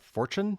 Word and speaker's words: Forstchen: And then I personally like the book 1 Second After by William R. Fortune. I think is how you pronounce it.